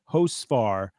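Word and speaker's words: Hocevar: Stuart Friesen, Matt Benedetto, Carson, I think it's Hosfar is how he pronounces that.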